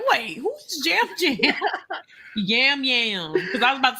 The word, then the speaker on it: Yam Yam: all land on the just talking to people Jam Jam already thinks everyone's his family already let's see